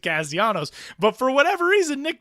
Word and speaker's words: Castellanos: Nick doesn't care how anybody says his last name, but his dad is like super gung-ho about like you have to pronounce it Castellanos.